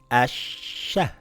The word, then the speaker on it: أَشَّ: إِثَّThis is the same as this إِثْ ثَIt reads iththa, iththa, very good أَحَّThis reads, Ahha, Ahha, Ahha أَشَّThis reads Ashsha, Ashsha, Ashsha أَوَّThis reads Awwa, Awwa.